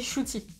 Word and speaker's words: Ncuti: Ncuti Gatwa, qui s'écrit... Ncuti, mais ça se dit Ncuti.